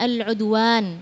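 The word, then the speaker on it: al-'udwan: Panjang pendeknya tadi al-udwan harusnya dibacanya al-udwan ya Ada Alif Mad thaabi'i jadi harus dibaca dengan ee apa namanya dengan tepat kalau misalnya misalnya belum ada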